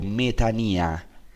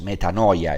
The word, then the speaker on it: metanoia: Esta inclinación se llama en griego metanía. Es interesante porque metanía en griego es lo que en nuestra pronunciación llamamos metanoia, es lo mismo.